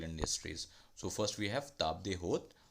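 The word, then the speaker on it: table d'hôte: So first we have table de hôte. Its pronunciation is in French, table de hôte, or table of the host.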